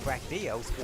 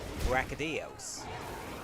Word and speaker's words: Brachydios: Reminds me of when I found out that the pronunciation of Brachydios was, well, Brachydios.